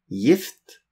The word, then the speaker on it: gift: Kort I, gift, ditt, ikke, hilse, 19. Vi skriver, we write, gift, and we sier, we say, gift. Notice, we write gift with G-I, G-I-F-T, but we pronounce it G-I-F-T, gift.